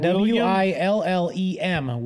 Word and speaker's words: Willem: oh well well it says William Will um it's spelled w-i-l-l-i-a-m no that that bro's been live okay right underneath that w-i-l-l-e-m Willem Dafoe I was gonna say what is